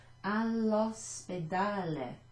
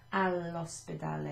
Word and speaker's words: all'ospedale: You can't really tell that it's got two L's and an apostrophe, although in Italian when you've got two letters you do pronounce them sort of almost twice, so all'ospedale instead of al ristorante.